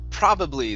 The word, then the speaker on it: probably: uh this word here is pronounced probably the stress is at the very beginning instead of probably probably